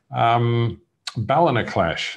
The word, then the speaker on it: Ballinaclash: Ballinaclash is the name of the wine. At least that's how I pronounce it. It could be Ballinaclash, but I call it Ballinaclash, which sounds more Irish because it is an Irish name.